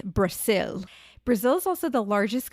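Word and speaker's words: Brasil: But in Portuguese, which is their native language, it's spelled with an S. It's Brazil.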